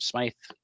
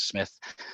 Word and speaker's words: Smythe: for pronouncing my name Smythe often mispronounced as Smith but that's okay Erica